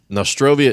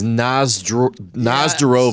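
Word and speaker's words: на здоровье: And Nostrovia is the English mispronunciation of the Russian word. It's Nazdarovia, So every time they talk to me, Nazdarovia.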